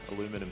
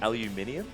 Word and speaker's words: aluminium: Aluminum isn't a word. Nor is it a thing. It's aluminium. Have you heard of that one? Thank you. There's like an extra syllable that you're just completely foregoing.